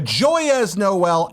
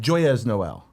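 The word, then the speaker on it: Joyeux Noël: Joyeux Noel. Joy is Noel. You're pronouncing all the letters. I'm doing there. it all wrong there, though. We need again. Joey Noel.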